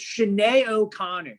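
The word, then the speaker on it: Sinéad O'Connor: also featured in armageddon uh number three it's shanay o'connor that's how you say her name shanae not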